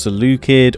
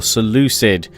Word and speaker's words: Seleucid: of detail as to why you thought it should be pronounced Seleucid or Seleucid. As I hypothesized in the previous part 2, both are actually correct ways of saying it. It just depends, pretty much where you're from.